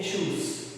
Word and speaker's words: choose: Mucho ojo, eh, porque el infinitivo es choose y el pasado es con una o y se dice chose, ¿okay? Este no se dice chose, este con doble o se dice choose.